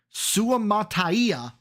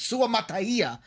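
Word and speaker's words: Suamataia: Kingsley so uh Kingsley Su Mata I think is how you say it I think that was perfect Su Mata is how you say that one um out of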